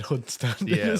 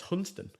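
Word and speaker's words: Hunstanton: said that just looks like hun Stanton I would have said hunt Stanton well and I called it hunt Stanton the whole time I was there okay and nobody corrected me apparently it's hunston hunston okay like shortening things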